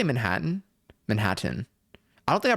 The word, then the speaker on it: Manhattan: Don't pronounce the T's, I don't think.